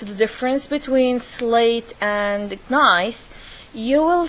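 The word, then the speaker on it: gneiss: of metamorphic rocks called nice the G is silent so we don't pronounce it it's like it's like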